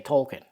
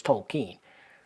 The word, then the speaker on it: Tolkien: Tolan himself how many people continue to say tolken I still say tolken every now and again I'll catch myself but it is tolken I mean that's right out of the guy's